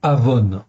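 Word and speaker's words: עָוֹן: en fait en hébreu l'iniquité c'est Avon en fait en hébreu l'injustice c'est avens ça se prononce presque pareil mais c'est pas tout à fait pareil c'est même très différent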